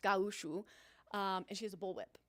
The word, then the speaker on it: gaúcho: ranchers and costumes, but she's a gaúcho, which is Brazilian, gaucho basically, but pronounced gaúcho, and she has a bullwhip.